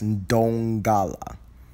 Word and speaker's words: Ndongala: The Ndongala family. That's Ndongala. The N is silent.